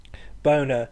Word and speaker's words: bona: potential for double entendre Bona sounds like the word boner which as I'm sure